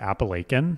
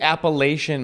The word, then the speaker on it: Appalachian: first of all where I come from we pronounce it appalachin you're joking right that's how you pronounce it it's the Appalachian Mountains that sounds fancy I assure you if